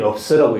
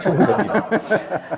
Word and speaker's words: 총서: 그 총서라는 게 한자로 보면 소위 업자 밑에 있는 거기 때문에 3일 업서라고 읽는 사람도 꽤 있습니다. 총서입니다.